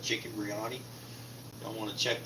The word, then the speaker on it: biryani: cook chicken biryani tonight Brioni huh don't always say it right chicken biryani it's an Indian dish